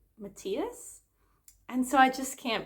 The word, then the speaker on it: Matthias: And I understand that the show also said Matthias, and I think that that's how generally people pronounce that character's name. But here in Denmark, it is actually a really common name, but we say Matthias.